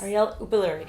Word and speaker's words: Arielle Uppaluri: Arielle Uppaluri.